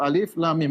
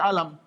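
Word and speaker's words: الم: hai Hai sebagai kata ketika Allah mengatakan Alif lamim kita baca satu alif.lam.mim bukan kita baca alam ini bacanya alif lam mimpi bukan alam Hai bukan Alin bukan alamnya seperti itu ya Eh kemudian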